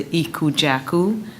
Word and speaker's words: Ikwejaku: He's going to be our Associate Superintendent of Human Resources, and it is pronounced, I've been asked several times already, Dr. Ikwejaku, who actually he recently served as Assistant Superintendent for East St.